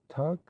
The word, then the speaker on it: took: Eastern Shore men usually pronounce the word took as tuck. Took a ho therefore is in Maryland parliament tuck a ho.